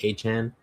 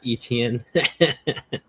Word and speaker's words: Etienne: It's pronounced H N, not Etienne.